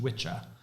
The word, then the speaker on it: wicca: know what the word wicca means to you but the word wicca means to me is which and it's technically pronounced witcha and it means a male witch in old english so but we're not